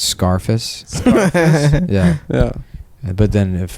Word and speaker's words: Scarface: I was laughing about Scarface I like to pronounce the name of that movie uh like you would the word surface so it's Scarface Scarface yeah yeah but